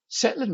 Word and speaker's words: Tsetlin: Well, firstly, you did pronounce it correctly, so they are indeed called Tsetlin machines after Michael Tsetlin.